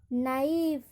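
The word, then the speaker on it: knife: Rule कहता है कि जब के एन से स्टार्ट हो वहाँ पर के का उच्चारण नहीं किया जाता है।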